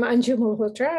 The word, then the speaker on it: Anju Malhotra: Again, apologies if I mispronounced your name. Oh, no, you did very well, thank you. Hi, I'm Anju Malhotra.